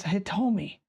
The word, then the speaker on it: Hitomi: And I know I pronounced that right because I played enough dead or alive where Hitomi would power up.